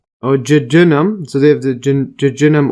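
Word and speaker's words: jejunum: the uh Jim or I'll see that again pronunciation here J oh Jenum so they have the Jenum over here that's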